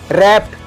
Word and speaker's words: wrapt: रैप्ट, अब सिर्फ यहाँ पे W जो है वो साइलेंट है, हम इसको बोलेंगे मतलब प्रोनाउंस करेंगे रैप्ट, WRAPT मीन्स मुड़ा या ढका हुआ, ढका हुआ।